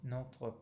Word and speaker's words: notre: Donnez-nous aujourd'hui notre pain de chaque jour. So again, open O in notre and the same nasal vowel in pain.